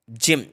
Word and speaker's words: gem: जैम, जो कि video के स्टार्टिंग में मैंने आपको एग्जांपल दिया था, जैम जिसका मतलब होता है रत्न, GEM, इसीलिए यहाँ पर जी को जा पढ़ा जा रहा है, जैम।